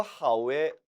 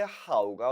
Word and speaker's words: 好: 그런데 이 단어가 하오, 하오 사성어로 발음될 땐 동사가 돼서 좋아하다라는 뜻이 됐습니다. 반면에 형용사 앞에 하오가 오면 이때는 형용사를 수식해주는 부사가 되는 거죠.